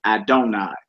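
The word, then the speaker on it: אדני: Another form of God's most sacred name, which is used in Jewish writings, 2 yods, like the Tetragrammaton, it should be pronounced Adonai.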